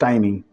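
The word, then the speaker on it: tiny: Pronunciation ध्यान रखेंगे, इट्स नॉट टिनी, इट्स टाइनी।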